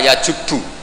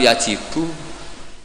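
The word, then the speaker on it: يجب: Itu bacanya bukan yajibu tapi apa? Yajubbu a yaqt lah. Kalau pas ini kamu baca yajibu kan alislamu te islamu yajibu pusing kamu.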